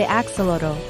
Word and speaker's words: axolotl: on the planet, the axolotl. Let's get into 20 amazing facts you probably didn't know about these smiling salamanders. First off, their name is pronounced Axolotl and comes from the Aztec language, meaning water dog.